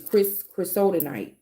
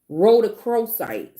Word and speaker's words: rhodochrosite: rose quartz like, but it's chrysotite. Is that how you say it? Rhodochrosite. Sorry. Rhodochrosite. I said it wrong.